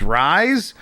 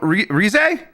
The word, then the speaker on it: Rise: All right, I think I'm at Antonio Morales, who says, "Can you believe it's been over a year since Jeff pronounced Persona 4's Rise as Rise?"